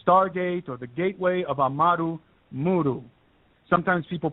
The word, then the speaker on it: Amaru Muru: Amaru Muru is spelled A-M-A-R-U, Amaru, and then the second word is Muru, M-U-R-U.